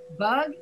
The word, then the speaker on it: bug: A little fix. Bug and bog.